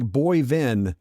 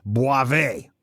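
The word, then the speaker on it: Boivin: pronounces his name correctly it looks like boyven but it's French and pronounced Boise oh sorry it's not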